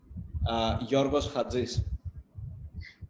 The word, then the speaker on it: Georgios Chatzis: Georgios Chatzis.